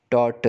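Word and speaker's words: tortoise: मैं आपको बताने वाला हूं इसका प्रोनोंसीएशन है डॉट्स थे site again dot एस जी हां इसका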